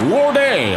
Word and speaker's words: Lorde: named I believe it's Lord a like Lord with the knee the E is silent there Jack some sort